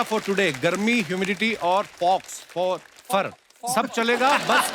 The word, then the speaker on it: faux: और दिखाइए भाई, ये फॉक्स की सीगा FAUX, what is that? X को प्रोनाउंस ही नहीं करते। फॉक्स फोफर। फोफा। तो एक्स नाम नहीं लेना उसका, ना, साइलेंट है वो।